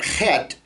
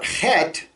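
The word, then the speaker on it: חֵית: 370 times eight the the letter het has no english equivalent okay it's it's sound is we we've put an h sound a soft h in english but it's not it's it's a sound comes from down here um best examples is maybe in scottish you have loch ness you know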